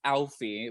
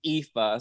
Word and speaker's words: Aoife: there's this European ass name called Alfie, which is what I thought it was pronounced. And someone actually corrected me on my video saying it was an Irish Scottish name pronounced Aoife.